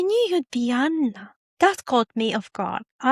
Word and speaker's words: Joanna: He arrived confident, skipping pleasantries, immediately calling me Janna. I'm always slightly irritated when people use the English version of my name. The original is pronounced with Y and a double N and it's Yana and sounds and Joanna always sounds like a translation.